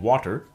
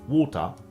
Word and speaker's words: water: So, here we should note that the T in water, as well as the T in Gretel, is generally pronounced as a glottal stop in Cockney English. So, while in some British accents, it would be water, in Cockney it's water.